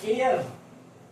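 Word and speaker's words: heir: आगे हम चलें, देखो एयर। एयर का मतलब होता है उत्तराधिकारी, इसमें एच साइलेंट है इसलिए हमने ए से स्टार्ट किया है।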